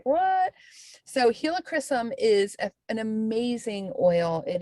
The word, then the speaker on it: helichrysum: so we're getting some helichrysum this month that is how you say it by the way if everybody always asks